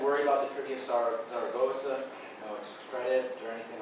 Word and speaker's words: Zaragoza: So Sarah, like the girl's name, and then Gossa. Or Zaragoza, depending on if you're saying it as a Portuguese or as Spanish, right? Zaragoza if you're Portuguese.